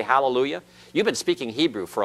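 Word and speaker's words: הַלְלוּיָהּ: speaking Hebrew all right and this is hallelujah it's a vocal schwa it's vocal because it is a schwa preceding it's under a consonant that is followed by The Identical constant all right and that's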